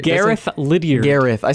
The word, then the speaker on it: Gareth: You know, as far as experimental rock goes, I think Garrett Lilliard is Gary, did you say or, Gary?